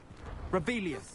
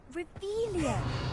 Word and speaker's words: Revelio: Rebellious. You're saying it wrong. Ugh, Revelia. Much better.